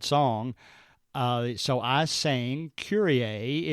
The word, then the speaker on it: Kyrie: down and taking row I pronounced uh one girl's name as Kyrie it was spelled k y r i e and I asked her I said did I pronounced your name right and she said no it's actually curier and I thought well you know is that like the song from the ' 80s and she said yes I I was named